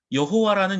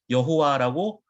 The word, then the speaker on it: 여호와: 이야기합니다 자 구약성경의 는 여호와라는 이름이 나옵니다 여호와 자 히브리어로 자음 자음 으로만 기록되어 있습니다 그래서 요드 해 와 우회를 합쳐서 여호와 라고 발음은 하지만 이 여호와라는 발음도 후대 굉장히 오랜 세월이 흘러서 만들어진 것입니다 자 히브리어는